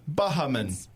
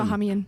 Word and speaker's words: Bahamian: the other syllable. Yeah, it's Bev Bahaman. Bahamian. It's Bahamian.